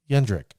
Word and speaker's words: Jendrek: he pronounces gendrik so i will pronounce him pronounce it tsp yendrick now i was fortunate to ask a question